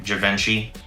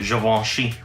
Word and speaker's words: Givenchy: He's also the creative director for Givenchy, or as we normally say, Givenchy, but it's really Givenchy.